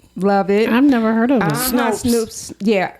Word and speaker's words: Snopes: Snoops. Yeah. Is it Snopes or Snoops? I think it's Snopes. Anyway, it's spelled Snopes. So Snoops would be with probably two O's instead of one, right?